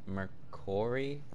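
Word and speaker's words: Mercouri: Melina Mercori?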